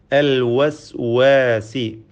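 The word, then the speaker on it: الوسواس: അൽ വസ്വാസി, വാവിൻ്റെ ഉച്ചാരണം പ്രത്യേകം സൂക്ഷിക്കുക, ശ്രദ്ധിക്കേണ്ടതാണ്. വാവിൻ്റെ മഖ്റജ്, ഉത്ഭവസ്ഥാനം 2 ചുണ്ടുകളാണ്. വാവ് ഉച്ചരിക്കുമ്പോൾ ചുണ്ടുകൾ വൃത്താകൃതിയിലാവുന്നു എന്നത് ശ്രദ്ധേയമാണ്. വ, അൽ വസ്വാസ്.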